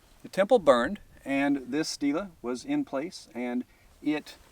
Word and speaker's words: stele: We tend to spell it S-T-E-L-E and pronounce it stele.